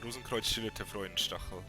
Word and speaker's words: Rosenkreuzstilette Freudenstachel: I'll just let you pronounce it. Whatever. Yeah, it's Rosenkreuzstilette Freudenstachel.